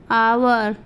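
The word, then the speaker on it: hour: अगर किसी स्पेलिंग में H किसी vowel A E I O U के पहले आता है तो वहाँ H का उच्चारण नहीं किया जाता है।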